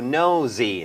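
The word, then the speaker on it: nosy: สน ใจ เพราะ ว่า N S Y สะกด ด้วย S แต่ ออก เสียง เป็น z z z noy นะ ครับ ก็ เป็น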